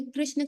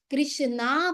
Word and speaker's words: कृष्ण: का नाम लेंगे अरे कृष्ण कृष्ण बोलेंगे और अगर गलती से गलत बोल दिया कृष्णा बोल दिया कृष्ण है नाम कृष्ण नहीं बोल के कृष्णा बोल दिया या चाइनीस तो का